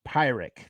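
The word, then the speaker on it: Pyrrhic: it um pyrik a pirate sorry so it's pyric that's how you pronounce it pirate victory uh one at too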